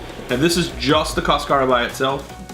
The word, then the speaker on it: cascara: Well, it's this little thing that's called cascara. Cascata. Cascara. Cascara. C-A-S-C-A-R-A. Yeah. Don't ask me to spell that.